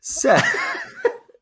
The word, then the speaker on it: Seth: Seth, or Set, actually. It's spelled Seth, but I think it's pronounced Set.